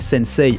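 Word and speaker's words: 先生: voyez marque et sensei avec le i qui est là bas ce il ay ne se prononce pas réellement il est en fait en vrai on devrait prononcer avec un autre e là derrière pour donner deux temps à la syllabe eux sennecey paris pau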